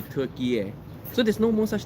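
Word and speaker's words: Türkiye: to turkey okay so which in english language the closest way to pronounce that name should be turkey air so there's no more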